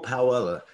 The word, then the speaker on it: Powella: How you pronounce it still, Powell? Powella. Yeah, it's Powella.